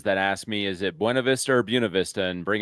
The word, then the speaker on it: Buena Vista: For whatever reason, they've told me 80 years ago, there are bumper stickers here that will tell everybody it's Buena Vista. They know it's not the right pronunciation.